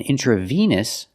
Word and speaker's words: intravenous: the pronunciation difference veins the word vein is pronounced along a sound like day and say vain an intravenous the e in the middle makes the long e sound like green beans intra Venus intravenous example